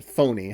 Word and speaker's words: Fournier: She's riding with Alexis Fournier (pronounced "foe-nay", haha) played by actor Ivan Lebedeff and they're driving off together to get married.